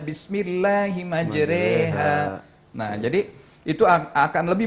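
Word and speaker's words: بسم الله مجراها: monyongkan mulut ya, atau tulisannya bismillahimajroha ya, tapi bacanya bismillahimajreha.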